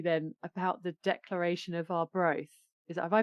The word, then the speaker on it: Arbroath: Can I sidestep and ask you then about the Declaration of Arbroath? Have I pronounced that right? You have to. That's right. Yeah, no, it's called the Declaration of Arbroath.